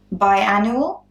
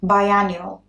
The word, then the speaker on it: biannual: So the next one is biannual or biannual. Very similar, but they're not quite the same pronunciation.